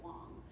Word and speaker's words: Wang: living in california and he pronounced it long when i was listening to it so he pronounces it the proper way but everybody else is wang yes yep uh question